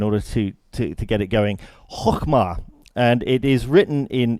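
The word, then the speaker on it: חכמה: Proverbs, is this word, which is close to impossible to pronounce for people in from my background at least, which I think is something like chokhmah. Yeah, good luck with that.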